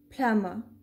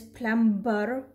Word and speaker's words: plumber: the reason is this when m and b are at the end of a syllable we do not pronounce b but when m and